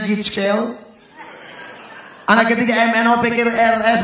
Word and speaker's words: GHIJKL: Anak pertama ABSDEF, anak kedua GHIJKL bacanya GIJKL.